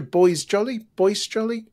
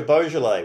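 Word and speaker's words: Boisjoly: Is it Roger Boisjoli? It's Roger Beaujolais. We're having Beaujolais. I'm getting all the names wrong. Names, man. They're really. it's just so unpredictable. Roger Beaujolais. That's how they say it.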